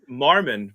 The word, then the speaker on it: Marmen: Marmon, but it's spelled Marmen.